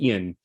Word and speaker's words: Ian: much for the introduction my name is pronounced Ian you know yeah no